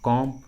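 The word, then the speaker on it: comb: Trick के अनुसार B silent होगा, बी का उच्चारण नहीं करेंगे। देखिए सभी इंग्लिश वर्ड्स में कॉम, बॉम, टॉम, थम, क्लाइम, लीम, डम, इन सभी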